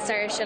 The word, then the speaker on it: Saoirse: And he got up and he said, by the way, her name's Saoirse, like inertia.